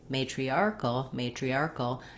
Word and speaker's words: matriarchal: arc is short, and in matriarchal, that matri is fast.